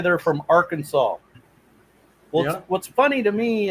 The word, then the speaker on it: Arkansas: of a sudden it go arkansas instead of arc kansas doesn't make any sense it's felt the same with an ar yeah because you go to the our kansas river in kansas and it's pronounced our kansas river you know i know i